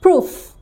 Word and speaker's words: proof: প্রমাণ শব্দের ইংরেজি প্রুফ, প্রুফ, প্রুফ, PROOF। এখানে সাউন্ড হিসেবে দেখো ফ, ও দুইটা আছে, উ। এখানে আমরা IPS সিম্বল দিয়ে দেখব, এটা লং উ, উ, ঠিক আছে, এটা